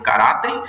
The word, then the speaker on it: caráter: em conta a regra a palavra caráter é uma palavra paroxítona veja que a sílaba mais forte e arrumei o caráter caráter e ela termina em R assim como recebe acento